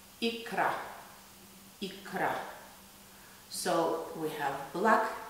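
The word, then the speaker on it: икра: Russians pronounce caviar ikra.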